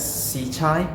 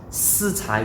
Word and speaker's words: Sicai: You probably would pronounce this bow as Sicai, but actually this bow in Chinese is pronounced Sicai, which means 4 talents.